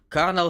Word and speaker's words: Colonel: The fat files and car issues and fried chicken life, the life of Colonel Sanders. I'm pretty sure it's spelled like colonel with replacing R with L with R.